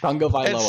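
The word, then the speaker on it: Tagovailoa: I love his name, but it's Tunga Vailoa.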